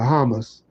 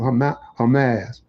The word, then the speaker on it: Hamas: Excuse me for mispronouncing. I always have I always have to think of Hamus, you know, before I think of Hamas.